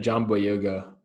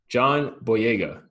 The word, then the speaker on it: John Boyega: segment here we got jambo yoga jeez i just said his name wrong that's terrible john john boyega um give it the